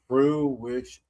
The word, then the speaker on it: fruition: Fruish. That's three syllables.